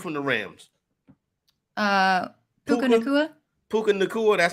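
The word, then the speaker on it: Puka Nacua: him the dude from the Rams uh Puka Puka Thea that's how you say it yeah he got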